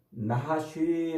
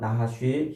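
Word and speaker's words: נחש: 아니라 하나님의 피조물이란 말이에요 자요 어 뱀이라는 말은 나하쉬 아고 이렇게 발음을 해요 나하쉬 히브리어로 요게 이제 어원은 명확하지 않아요 그런데어요 나하시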